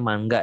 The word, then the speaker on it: manga: Kalau versi manga ya, katanya orang Jepang bacanya manga ya.